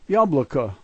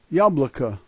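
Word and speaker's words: яблоко: This is yabloko, yabloko.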